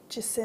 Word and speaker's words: Jacinth: The name, which I could not pronounce, how do you pronounce that? Jacinth.